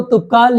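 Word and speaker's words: Toubkal: में देखा जाए तो तुपकाल या टॉपकल कुछ भी बोलेंगे सही रहेगा, कोई दिक्कत नहीं। प्रोनाउंसिएशन में जो बोलना चाहे आप बोल सकते हैं।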